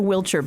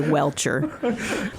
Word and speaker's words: Wilcher: I'm Wilcher, but a lot of people, especially in Indiana, say Welcher.